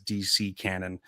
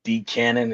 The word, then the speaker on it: D Canon: Because I always thought it was DC Cannon until typing it out. It's just D canon.